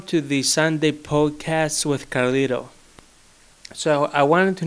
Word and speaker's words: Karlhto: Hello, my name is Karlhto, spelled like Karlhto but with an H. So it's K-A-R-L-H-T-O. Because in English language, the H is like who or something. But because I'm Greek, the H is ita, so I make the H sound like I.